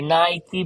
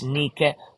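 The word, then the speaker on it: Νίκη: or Nike in Greek it's pronounced now wrongly Nike but that is the brand in Greek it's Nique like the beautiful temple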